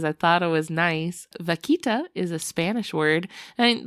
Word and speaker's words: vaquita: Oh, like vodka. But vakita.